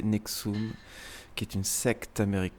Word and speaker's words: NXIVM: soirées de culte sexuel nxi VM communément prononcé nexum qui est une secte